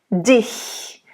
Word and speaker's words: dich: It's kind of, I think the I and the H, that's a very good comparison because the I, see how it's like I'm pretty much in the same position. All I'm doing is do a little lift toward the back of my tongue, not my throat, not that far back.